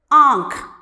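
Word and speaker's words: आँख: Here you can see the first word Aankh. Aankh means eye. So when we pronounce this word, you might have noticed that the sound comes from both mouth and nose. Aankh.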